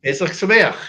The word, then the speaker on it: Pesach Sameach: Pesach Sameach.